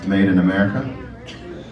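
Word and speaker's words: Maiden America: The record's called Made in America, but it's spelled M-A-I-D-E-N, America.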